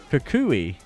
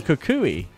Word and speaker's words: Kukui: Kukuki. Kukuki. Kukui. Kukui. No, Kukui. Yeah. There's not another K in there, evil bud.